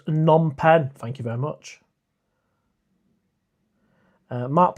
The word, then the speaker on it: Phnom Penh: It's pronounced Phnom Penh.